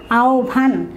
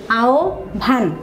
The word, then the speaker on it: আহ্বান: যেটা হবে উচ্চারণ এই তোমরা আহ্বান না বলে এই উচ্চারণটা যদি সঠিক উচ্চারণ করতে চাও সেক্ষেত্রে হবে আহ্বান এখানে একটা হস চিহ্ন হবে তোমরা যখন উচ্চারণ গুলো লিখবে দ্বিতীয় পত্রে তখন এখানে হস হবে এই কারণে যে এখানে তোমরা থেমে যাচ্ছ না থামলে হস দেওয়ার দরকার নেই হস চিহ্ন হবে তার মানে এই উচ্চারণটা হবে আও ভান হয় হয় বের উচ্চারণের